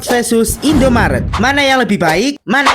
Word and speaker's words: Indomaret: Dan kalau si biru itu namanya Indomaret bukan Indomartet. Hayo, siapa nih yang masih sering salah sebut?